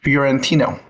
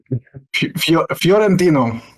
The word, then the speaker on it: Fiorentino: Florentino, that's how you say it. I think you have to say with accent or else it's hard to say.